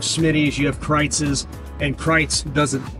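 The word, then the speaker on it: Kreuz: r EU u z it kind of looks like Cruz but it's pronounced kites because it's an old German family um but kites is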